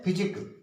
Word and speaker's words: physique: इसी तरह से है फिजिक, PHYSIQUE, फिजिक।